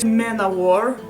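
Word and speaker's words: Manowar: the world by manovar i know very well that manavari is actually mana war that's how everyone pronounces it i say manavar because it sounds to a russian word samavar it means self-boiling cattle i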